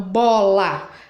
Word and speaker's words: bola: Então, bola, a última sílaba é o lá, a penúltima é o bó.